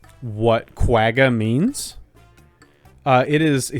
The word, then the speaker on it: quagga: high-pitched whooping sound that doesn't sound like quagga at all yeah there's no G in there maybe there's another way to pronounce it in South African Dutch that I'm just not understanding but I'm sure it's not that far off from quagga q a g g